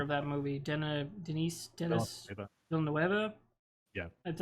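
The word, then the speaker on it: Villeneuve: Villanueva, Yeah, that's how you say his name.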